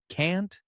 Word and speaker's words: can't: In everyday English, just use the American pronunciation. Short vowel, can't.